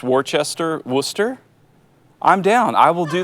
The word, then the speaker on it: Worcester: it I'm going it if you want to pronounce Worchester Worcester I'm down I will do that all day